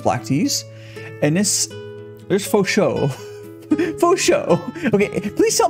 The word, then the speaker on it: Fo Shou: There's Fo Shou.